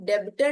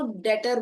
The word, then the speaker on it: debtor: चीज note note करना इसमें बी साइलेंट है। हम डेबिटर नहीं बोलते हैं। हम इसको डेटर बोलते हैं।